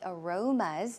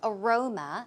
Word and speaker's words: aroma: cannot forget about the aromas of what he had the night before right so aroma as you can see the stress goes on the second syllable aroma aroma some synonyms